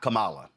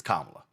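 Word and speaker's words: Kamala: First of all, um it's not Camala, it's Kamla. So maybe you ought to get the name right, pronounce the name properly.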